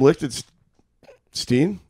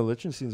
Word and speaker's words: Lichtenstein: Because Ben you can do or, it doesn't matter. No, what's the Yeah. correct one? I mean, the Americanized version is.